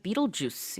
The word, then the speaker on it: Betelgeuse: 영어로는 Betelgeuse 이렇게 발음합니다.